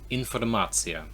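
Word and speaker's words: информация: So this is informacja. So lots of the words with shun at the end in English, information, nation, they're basically always the same in Russian.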